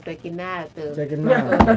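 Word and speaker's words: Cecchinato: look, Sekinato is oh, he likes to call him Sekinato. That's the way it's pronounced in Italian.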